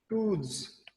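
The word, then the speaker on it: truths: Axioms क्या होते हैं, वो ऊपर जो ब्लू में लिखा हुआ रिकॉग्नाइज्ड ट्रूथ्स, TRUTH, इसको हम कहते हैं ट्रूथ। लेकिन प्लूरल हो जाए तो इनकी प्रोनाउंसिएशन चेंज हो जाती है।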